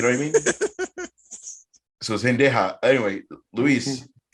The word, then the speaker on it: Zendaya: Am I saying it wrong? Zendaya. Zendaya. Oh my god. He is the kicker for the Rams. Sorry, I always get him confused. I'm putting the emphasis on the wrong syllable.